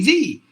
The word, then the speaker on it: the: of the next word if the beginning of the next word is going to be a vowel then you have to say thee so look at this